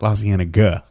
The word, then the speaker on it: La Cienega: like, oh man, I was just driving on La Cienega Boulevard. Oh yeah, or La Cienega. That's how you say it. La Cienega.